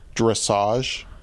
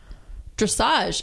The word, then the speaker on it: dressage: Am I pronouncing it correct? Dressage. Dressage.